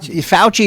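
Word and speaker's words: Fauci: foresee back no kidding fouchy is how you say it right you know no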